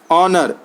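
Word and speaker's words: honour: सकते हैं के को ऑनर है एच ओ एन ओओ आर ओनर H silent है किचन है के आई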